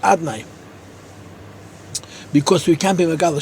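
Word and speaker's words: אדני: And number three, that Bezman Azeh, Lei Kifi Shani Nichtav Ani Nikra, the Shem of Havaya is written, and it's pronounced Adnai, because we can't be Megal Shem Havaya, but on Yom Kippur we say it Kiksavi.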